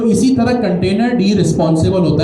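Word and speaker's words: containerd: इसकी स्पेलिंग यही है। आपने लिखा कंटेनर और आखरी में लगा दिया डी। इसको हम कहेंगे कंटेनर डी।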